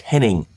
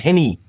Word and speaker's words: Henning: They think it's Paul. It's not. It's Henning. It's also not Henny.